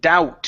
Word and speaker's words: doubt: to uh the word doubt here this word doubt uh the B is silent so instead of saying D it's Dow doubt okay doubt okay good